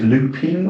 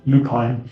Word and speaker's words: Lupine: So I think it was at this point that we also uh first came across the the do you can pronounce it Lupin or Lupine? Lupine.